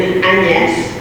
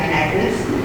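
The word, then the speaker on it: Agnès: try hi so I'm an yes which is the French pronunciation for Agnes and I don't like Agnes I like an and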